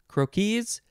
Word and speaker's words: croquis: that's interesting croaky crooky and then the plural is croquis but it's spelled the same way you just pronounce it differently croakies croaky next is crore